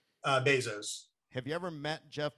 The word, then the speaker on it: Bezos: How do you pronounce his name? Bezos.